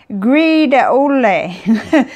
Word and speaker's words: Gris de Houle: different ways too but I think it's pronounced something like greed odelay but I'm not gonna